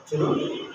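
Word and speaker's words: ち: তসু তে তু এ দুইটা হল ব্যতিক্রম যার উচ্চারণ হলো চি এবং তসু আরেকটা শিশু লাইনের উচ্চারণ আমরা পাবো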